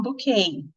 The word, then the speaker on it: bouquet: Sempre que a palavra for estrangeira para o inglês, ela costuma ter uma pronúncia afetadinha, vamos dizer. Então, o buquê que a gente fala, que deve ser origem francesa, eles falam bouquet. O balé que a gente fala, eles falam ballet.